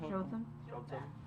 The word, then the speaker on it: Jotham: Jotham.